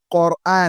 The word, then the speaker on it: Qur'an: Il faut bien prononcer ce mot. Si vous voulez prononcer ce mot en langue arabe, il ne faut pas dire le Qur'an. Non, on dit le Qur'an avec la dhamma. Si la dhamma commence, ce n'est pas la fatha.